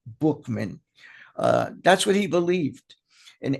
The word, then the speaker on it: Buchman: That's what the leader of the Oxford Group, a guy named by the name of Frank Buchman, although it's spelled Buchman, it's pronounced Bookman.